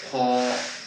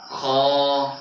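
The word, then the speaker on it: خ: খ খ খ খ অনেকে ঠোটটা গোল কয়। খ ঠিক আছে। এভাবে কিন্তু হবে না। সঠিক উচ্চারণ হইলো কি? খ খ খ এক পরিমাণটা ফাকা থাকবে ঠিক আছে গোল হবে না গোল হবে না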